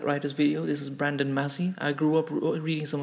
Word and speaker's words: Massey: about me brandon massey massey is not pronounced macy by the way you think of mass instead i was born june